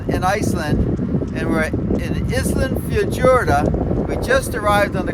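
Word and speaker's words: Ísafjörður: So Isafjordur. So Isafjordur.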